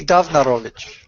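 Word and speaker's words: Downarwicz: But it's pronounced like a V, so I can see why you did that. Got it. Yeah. Okay. Like the window viper. Yeah. Well, the V's and the W's are pronounced opposite.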